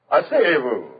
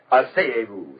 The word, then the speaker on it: asseyez-vous: Asseyez-vous. That's it. Asseyez-vous, s'il vous plaît.